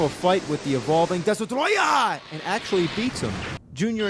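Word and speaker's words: Destoroyah: The name of the monster, surprisingly, isn't Destroyer, it's DESTROYAH! Yeah, that's the official name, DESTROYAH!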